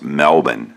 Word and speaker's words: Melbourne: look it another from melbourne well actually it's pronounced melbourne in australia i've gotten corrected before but my